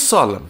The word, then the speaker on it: solemn: getting that job op s o e m n n will be silent what is Solemn formal and dignified Sol